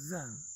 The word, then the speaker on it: Zen: same one that is pronounced as Zen in Japanese, or Son in Korean, or Chan in Chinese.